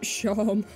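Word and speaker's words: Seam: The names seem pronounced Shom.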